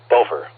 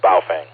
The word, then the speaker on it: Baofeng: And the Chinese pronounce it Bofer instead of Baofeng. I'm going to take their lead, thinking they're the right way to pronounce it.